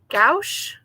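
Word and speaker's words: gouache: want to try I think they call it gauche it's spelled g o u c h e and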